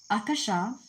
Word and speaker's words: Akasha: The Akasha records pronounced as Akasha is a sunskirt word meaning sky, space or ether is a term used in theos theosophy.